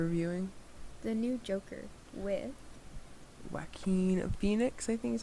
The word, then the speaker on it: Joaquin: Joaquin Phoenix, I think is how you pronounce it.